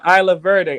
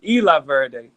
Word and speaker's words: Isla Verde: there's an area called Isla Verde I'm saying it wrong it's Spanish Eli Verde La birthday when you